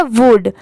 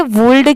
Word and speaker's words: would: तो देखिए इसे वुल्ड इसलिए नहीं पढ़ा जाता क्योंकि यहाँ पर L लेटर साइलेंट है, सिर्फ लिखते टाइम यहाँ पर WOULD लिखा जाता है, बाकी पढ़ते टाइम यहाँ पर L लेटर साइलेंट होता है।